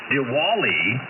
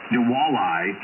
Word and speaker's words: Diwali: annual human migration choices are a Thanksgiving B diali deali I'm not sure the pronunciation but d i w a l i Diwali C is the Chinese New Year and